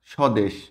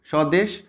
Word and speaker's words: স্বদেশ: তার মানে এগুলো কি শব্দের শুরুতে যদি ব ফলা থাকে তাহলে সেটা সাইলেন্ট থাকে ঠিক ম ফলার মতো